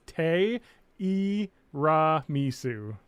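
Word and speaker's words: ティラミス: So the Japanese word for tiramisu is te i ra misu. So it's tiramisu because the tiramisu because there is no T, there's te, but you can put the e after it and it just becomes.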